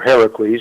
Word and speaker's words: Heracles: dwelt outside the pillars of Hercules, or Heracles, it's pronounced properly, and all who dwelt within them.